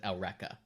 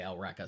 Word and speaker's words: Eureka: how you said it for some reason they pronounce that L Rekha okay wonder I watched a dub back in